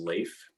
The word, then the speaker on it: Leif: i'm wrong about that my name is leif it rhymes with safe some people say it rhymes with chafe please don't and it is my